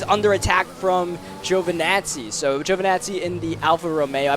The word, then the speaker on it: Giovinazzi: So Giovinazzi in the Alfa Romeo, I believe that's how you pronounce it. I believe it's just Giovinazzi, right? Like J-O-E, Vinazzi.